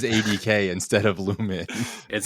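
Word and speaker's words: Lumon: I'm game lumen. That sounds good. Let's do it. You guys agree? Yeah. Yep. The company is Lu M O N, but it's pronounced Lu Men, which is Lightseed Disc Golf.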